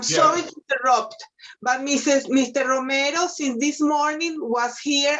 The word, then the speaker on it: Romero: let's move on to uh jermaine uh uh romeo romero romero yes i'm here uh give me the pronounce that your first name sir jaime would